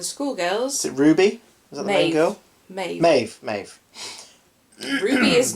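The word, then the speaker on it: Maebh: oh god oh yeah May spell m-a-e-b-h never seen that spelling before I was like yeah babe are those Maeve yes Maeve it's pronounced Maeve like Neve for example Neve n uh a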